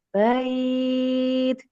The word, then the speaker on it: بيت: Hadzal bait. Jadi bait itu apa namanya? Harfun linnya, mat lainnya tuh jangan buru-buru, ini aja lembut aja. Bait, bait. Jadi enteng ringan aja.